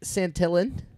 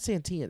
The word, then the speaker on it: Santillan: and a righty tony santillan uh it's not santian it's weird i thought it would be but it's still not i've been just saying it wrong cintillion santillion art warren